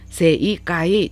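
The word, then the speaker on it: 正解: 근데 세이까이, 사음절어이지만 세 다음에 이를 장음화 현상으로 만들어 버려요. 그래서 세이까이 딱딱 끊지 마시고 세를 길게 발음하셔야 돼요. 세이까이라고 발음하셔야 되는 장음화 현상 기억해 주시고요.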